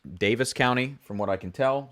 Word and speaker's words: Daviess County: heard of so yeah davis county is spelled like davies county but i believe it's pronounced davis county from what i can